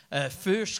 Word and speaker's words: Fuchs: Parce que même en le prononçant, même si tu m'avais dit, c'est de même que je le prononce, Fuchs comme Fuchsia, j'étais comme, je pense que je me suis trompé.